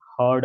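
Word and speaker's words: heard: ए आर यड हां लेकिन pronunciation थोड़ा वहां पर गड़बड़ कर दी Sonal H ई ए आर डी हर्ड बोलेंगे क्या बोलेंगे हर्ड एच ई ए आर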